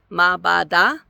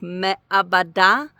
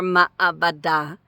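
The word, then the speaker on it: מעבדה: And so is this like ma'bada? But it's not. You have to actually account for that ayin. And so it usually sounds more like me'abada or ma'abada.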